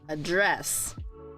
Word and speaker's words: address: is the verb and notice here we have two syllables right we have address and then there's address so most cases verbs are stressed in the second syllable it can also be